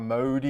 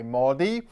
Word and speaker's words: Modi: had a humble upbringing but you don't say the O as in Grocers you don't say Narendra Modi you say Modi okay next on the